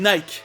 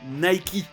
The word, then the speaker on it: Nike: anglais, et ça sonne mieux que la vraie prononciation, Reebok. Comme Nike, qui est en anglais Nike.